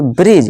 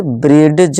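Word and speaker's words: bridge: समझ आएगा यहां देखिए ब्रिज इसे ब्रिड ज नहीं कहते इसे ब्रिज बोलते हैं ठीक है दोस्तों ब्रिज यहां डी क्या है साइलेंट इस तरह जड ज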